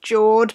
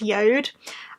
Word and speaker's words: JORD: watch company that looks like it should be pronounced George but is deaf we pronounced yode well I'm working with them again and I'm